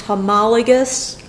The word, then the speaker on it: homologous: that of homologous chromosomes that again is pronounced homologous chromosomes homologous chromosomes are matching